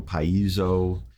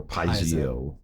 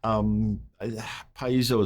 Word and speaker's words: piezo: which is paizo or paisio. Paisio is Paisio. not wrong. That's incorrect. There's not that many syllables in that word. Right. You know, paizo is probably the closest.